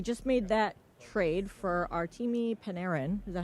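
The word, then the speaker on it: Artemi Panarin: Uh, you know, they just made that trade for Artimi Paneran.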